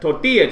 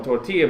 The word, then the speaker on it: tortilla: English pronunciations like like tortilla chips because the L because the Double L is is the actual letter in Spanish alphabet language it sounds like a a why like a llama would be like a